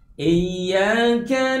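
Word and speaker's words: إِيَّاكَ: Seterusnya, Iyyaka na'budu wa iyyaka nasta'in. Pada saat membaca ayat ini ada kesalahan yang lazim terjadi, yaitu tidak mentasdidkan huruf iya.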